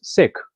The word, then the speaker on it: Sikh: And a lot of people have different pronunciations for it, but the accurate and correct pronunciation of the word is Sikh with a small I.